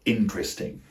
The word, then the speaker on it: interesting: The fourth word on my list is the word interesting, and the related word interested. I'm going to count them as 1. Notice that the primary stress is on the first syllable again.